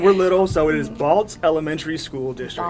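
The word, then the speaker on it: Balsz: we're small and we're little so it is Balz Elementary School District B there's a t in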